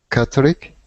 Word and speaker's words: Catholic: So yeah, just pay attention to that TH. Catholic. Catholic. Catholic. Good. And we don't pronounce the E at the end like Catholic. We pronounce it like Catholic with an I.